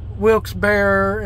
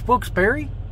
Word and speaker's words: Wilkes-Barre: there around Hazleton and Wilkes-Barre and all that mess is it Wilkes-Barre or Wilkes-Barre I've heard it pronounced both ways I think it's wilkesbury but anyway so now